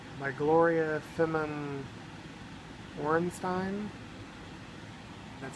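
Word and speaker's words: Feman Orenstein: And it looks like it's by Gloria Femin Orenstein.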